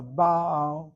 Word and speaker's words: Baal: A Baal, notice I'm hitting the first syllable. Short vowel open gets accented.